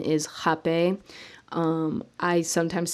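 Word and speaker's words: rapé: cape so jape is a lot of people call it rape because of the way that it's spelled um but the pronunciation is hape i sometimes say rap a just so people know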